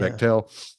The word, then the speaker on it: Bechtel: And I listened to it and you brought up Bechtel or Bechtel. How do you say it? I think it's Bechtel. Yeah. Bechtel.